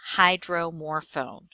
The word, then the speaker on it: hydromorphone: So high, sounding like high and hybrid. Dro, in the sound of drone. More, like the word more. And phone, like a telephone. And that gives us hydromorphone.